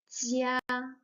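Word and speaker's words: 家: Zhi, ya, zhi, ya, jia. First tone. Jia means house, family. Zhi, yan, zhi, yan, jian.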